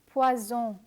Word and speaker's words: poison: inform you that interestingly, a single S in French is pronounced like the letter Z in zone and zero. For instance, this word is pronounced as poison. It means the same thing as in English, poison. But when you add a double S, poison becomes poisson.